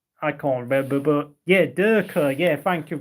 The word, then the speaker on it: Dekra: Was it Dacker? I can't remember, but yeah, Derker. Yeah, thank you. Dekra.